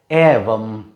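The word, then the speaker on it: एवं: It is usually as same pronounced as this sound, or A sound is pronounced in English. Little bit, not little bit, very close, closely similar to A sound.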